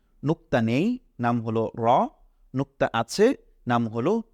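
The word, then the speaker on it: ر: নেই নুক্তা না থাকার কারণে এটার নাম হচ্ছে র এটাকে আমরা বলছি র আমার সাথে পড়ুন র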